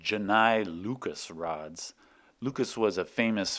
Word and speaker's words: Lucas: are also called Janai Lucas rods Lucas was a famous French mathematician I guess it should be pronounced Luca among other things Lucas